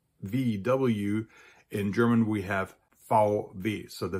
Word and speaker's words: VW: Now, as you already noticed, those two letters are pronounced very differently in German. So in English, we have VW. In German, we have VW.